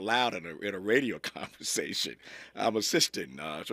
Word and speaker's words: Amethystine: Amethystine. And Amethystine.